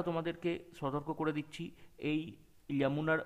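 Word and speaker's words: Yamuna: আমি আবারও তোমাদেরকে সতর্ক করে দিচ্ছি, এই ইয়ামুনার উচ্চারণটা কিন্তু আমরা যদি বাংলাতে প্রপার লিখি, আমরা যেটা উচ্চারণ করব দ্যাট ইজ ইয়ামুনা, নট যমুনা।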